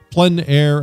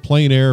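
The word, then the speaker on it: plein air: open air Outdoors outside the French pronounce it plen air others pronounce it plain air but no matter how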